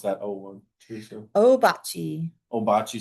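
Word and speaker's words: Ouabache: Obachi, Obachi. Some people will pronounce it Wabash State Park. which is the actual correct way to say it, but nobody does it.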